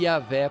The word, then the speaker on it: Iavé: Quando coloca a palavra Jeová, ou outra linguagem no hebraico, Iavé, a palavra Jeová seria aportuguesada e Iavé procurando um som mais próprio lá da língua hebraica. O que é Iavé?